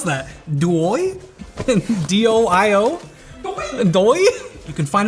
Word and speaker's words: DOIO: How do you pronounce that? DOIO?